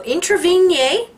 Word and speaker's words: Introvigne: article by Miguel Martinez March of 2003 how intervene yay yes I learned how to pronounce his name correctly got the watch hard